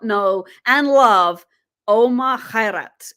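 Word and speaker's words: Khairat: one Egyptian does not know and love Omar Kat it's spelled KH h a i r a t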